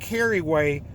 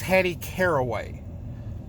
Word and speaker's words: Caraway: and call her carry weight her name wasn't Carrie way her name was Hattie caraway I don't understand why Google pronounces it Carrie way it's spelled see ara